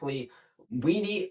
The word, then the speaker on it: Kuntz: We traded up to get Zack Kuntz out of Penn State.